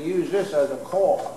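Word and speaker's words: caul: going to use this as a call. They call this a call. Like when you call somebody, but it's not spelled like that. It's spelled C-A-U-L.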